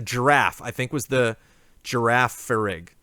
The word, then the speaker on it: Girafarig: I think was the girafarig girafarig it's giraffe in both directions is giraffe and then giraffe back